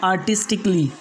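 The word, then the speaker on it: artistically: इसके बाद में सेकेंड रूल है, इन चार शब्दों में ए को जो है तो साइलेंट रखना पड़ेगा, मतलब साइलेंट ही पढ़ा ही नहीं जाएगा। जैसे लॉजिकली, म्यूजिकली, रोमांटिकली, उसके बाद में है आर्टिस्टिकली, मतलब ए को नहीं पढ़ना है, लॉजिकली नहीं बल्कि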